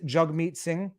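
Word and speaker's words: Jagmeet Singh: the way i i i realize now i've been pronouncing his name wrong it is jug meat singh and i will probably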